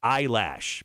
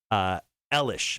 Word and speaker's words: Eilish: I'm going to ask you to spell Billie Eilish's last name. Eilish. That is correct. Boom! Because I put it in so much. A lot of people actually say her last name is Eyelash, but it's Eilish.